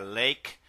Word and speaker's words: lake: Se escribe la se pronuncia lake porque la e al final no se pronuncia y esta fuerza, la vocal anterior a ser larga.